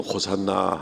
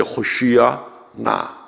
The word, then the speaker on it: 호산나: 그래서 이제 우리가 지금 부르기 쉽게 그냥 호산나 합니다만은, 이제 본토 발음으로는 이제 호시아 나 이렇게 이제 돼야 되는 거죠.